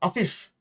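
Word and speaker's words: affisch: So for example, a fish that means poster.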